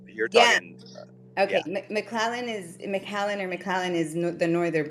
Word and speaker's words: McAllen: are you buy is is McClellan around there I can't say it right it's a Texas City McAllen I mean we're we are